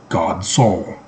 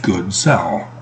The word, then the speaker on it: Godsol: My dad wants it to be pronounced Good Cell. I'm okay with Godsol.